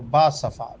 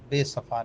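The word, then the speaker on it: باصفا: والے صوفی منش۔ تو با صفا، بے صفا نہیں۔ اس کو لکھا بھی آپ نے بے صفا ہے، پڑھا بھی تو اس کو با صفا کر دیں، بے اور الف ساتھ با۔ آگے بھی تلفظ بتا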